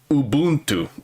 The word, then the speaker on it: Ubuntu: But like the word is actually pronounced Ubuntu.